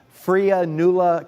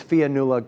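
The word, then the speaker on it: Fionnuala: brenda warm todd marengan freya newla thank you and lou de la garza all at five hundred dollars and it's fianula i apologize that i mispronounced your name at 300 i see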